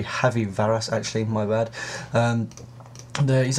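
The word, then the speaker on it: Javi Varas: Goen we've got um shvy varas I think that's how it's pronounced J in Spanish is an H so it should be heavy varas actually my bad um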